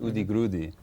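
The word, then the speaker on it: Udigrudi: But there was also a whole avant-garde tradition called Udi Grudi, Okay. which is the Brazilian pronunciation of underground.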